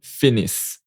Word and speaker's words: finissent: vous finissez, ils, elles finissent. Okay, don't pronounce the NT. Watch out. You don't pronounce the NT when it's plural.